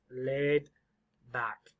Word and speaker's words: laid back: words laid back now this one is a long a a i long a laid so you see a lady for american speakers we say ah one syllable we are laid it almost sounds like two laid laid laid back the d can be pretty quiet lay back lay back where's the stress laid back laid back number